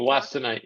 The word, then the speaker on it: wollastonite: And then let's see, we have a question around, how do you pronounce that? Wollastonite? Peter, can you Wollastonite, yep. Wollastonite, yeah.